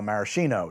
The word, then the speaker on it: maraschino: crack uh jokes about my pronunciation of maraschino. That is not me. That is a thing that bartenders uh came up with a number of years ago, I think during sort of the cocktail revival, the Renaissance, to distinguish the better cocktail cherries people were now using, the Luxardo maraschino cherries, from the American style maraschino cherries. The pronunciation indicates a different product. It's not an affectation.